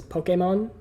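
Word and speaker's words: Pokémon: Pokemon Pokemon so apparently how you're supposed to pronounce it is Pokemon yeah like a okay moan okay mom Pokemon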